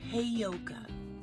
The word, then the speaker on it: heyoka: and they pronounce it wrong so it's it's pronounced heyoka okay so I'm looking at the playlists in